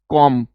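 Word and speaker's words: comb: B silent रहता है, जिसके लास्ट में एम बी आता है उसमें बी साइलेंट रहता है, ठीक है, याद रखिएगा। जिन जैसे इट इज कॉम, B silent रहेगा, ठीक है।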